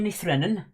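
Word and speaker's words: Ní Bhraonáin: But obviously, if you read it how you're supposed to say it in Gaelic, it is Enya Nithrenon, which gives it away a little bit, doesn't it? So, yes. Enya Nithrenon is how you pronounce that in Irish Gaelic.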